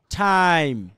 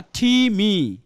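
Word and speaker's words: time: আয় টাইম। আমি কিন্তু ইর উচ্চারণটা করি নাই। খেয়াল করে দেখেন তো টির উচ্চারণটা কি করছি আমরা? যদি ইর উচ্চারণ করতাম আমরা তাহলে উচ্চারণ কি হইতো? টাইম বা টিমি।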